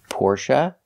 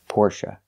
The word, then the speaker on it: Porsche: will never hear Porsche you will never hear the long a sound for the last syllable it's always Porsche or Porsche now the last syllable is pronounced uh like Cup in up not a like say and pay but uh like cup and up Porche it's a relaxed sound the syllable is not